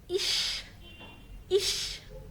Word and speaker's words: ich: هنا عندي أهو سيها قبليها إي بتقول إش، شين خفيفة.